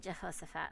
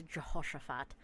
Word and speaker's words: Jehoshaphat: So King Ahab of Israel and King Jehoshaphat of Judah. Don't forget the SH, Jehoshaphat.